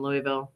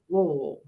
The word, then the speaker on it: Louisville: Kentucky, you need to know that Louisville is a single syllable. I can't say, I don't have enough mashed potatoes in my mouth to say it properly right now. Louisville, Louisville, Louisville.